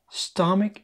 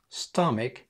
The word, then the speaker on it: stomach: Stomach ache. Stomach ache. Stomach ache. هي دي الكلمة التانية اللي قلت لك الناس بتنطقها غلط، بيقولوا على stomach stomach. برضو ch هنا صوتها صوت ال k.